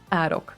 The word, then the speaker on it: Arok: How do you pronounce Arok? Oh, Arok. Arok. It's Arok.